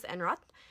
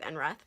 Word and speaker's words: Enroth: Lori has told me, is not how you pronounce his name in Swedish, but there's no way I'm ever going to pronounce his name correctly in Swedish, so we're just going to go with Enroth.